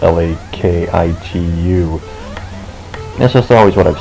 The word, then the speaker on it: Lakitu: younger days um I always called him uh makichu I spelled l-a-k-i-t-u that's just always what I've said and then